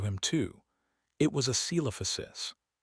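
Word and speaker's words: Coelophysis: It was a celophosis. Daniel had pronounced the C like an S, the first part of the name pronounced like seal, the middle like O.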